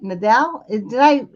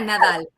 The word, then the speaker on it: Nadal: us this evening Nadal. Am I saying your name right? Yeah, Nadal. Nadal. No. Oh, I can't say it like that because I can't do that little roll of the tongue.